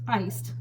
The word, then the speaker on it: Ice(d): And it's pronounced iced. I don't know why they have the D in parentheses. It doesn't explain that.